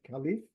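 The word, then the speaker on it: caliph: successor to the prophet the word caleff some people pronounce it kff is is a word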